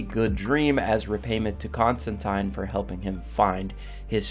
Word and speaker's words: Constantine: themselves were once in the possession of john constantine yes it is pronounced that way according to both neil gaiman